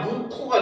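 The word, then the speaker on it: 묵호: 그래서 지명 중에 보면 무코라고 되어 있는데 발음을 하면 무코가 되거든요.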